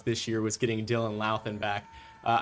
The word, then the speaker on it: Dylan Laan: year was getting Dylan Laan back. Uh, I've been saying his name wrong for the last couple of seasons with, but they were told me it's like it's Lan.